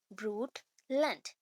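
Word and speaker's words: Brundtland: तो नॉर्वेजियन जो prime minister हैं, GH ब्रूट लैंड, यहाँ पे डी प्रोनाउंस नहीं करेंगे, ब्रूट लैंड, ठीक है?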